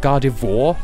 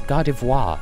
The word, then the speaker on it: Gardevoir: I've heard so many people pronounce it Gardevoir. Like, no, it's Gardevoir, because it's fucking French.